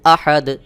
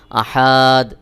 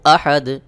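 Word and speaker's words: أحد: হলো কুল হু আল্লাহু আহাদ কুলহু আল্লাহু আহাদ এই আহাদ এখানে যদি আপনি একটু টেনে পড়েন তাহলে কিন্তু অর্থ পরিবর্তন হয়ে যাবে অনেকেই আহাদ এভাবে টান দিয়ে উচ্চারণ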